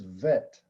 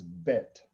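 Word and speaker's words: ב: When you see the dagish, that makes the vet a bet sound. Cuando ves ese puntico, el dagesh, ahí ya se pronuncia bet. Without the dot, it is vet. Sin el puntico es vet. And with the dot, it is bet.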